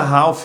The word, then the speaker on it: half: Em inglês nós dizemos half. Esse L você não vai pronunciar, como se ele não existisse.